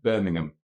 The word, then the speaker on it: Birmingham: It's hard for me to pronounce H-A-M on anything other than ham when I think you said him. Birmingham.